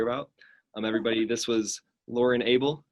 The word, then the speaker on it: Abell: Everybody, this was Lauren Abell, rhymes with table, and she is running for the Utah House of Representatives District 5, running against the incumbent Casey Snyder.